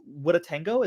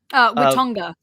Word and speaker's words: Watonga: but we also have Witatango. Is that how you pronounce it? Watonga. yeah, the park itself is Watonga Park, as you can see